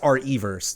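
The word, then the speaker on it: RE:Verse: which drives me crazy it's supposed to be pronounced r e verse it's like that he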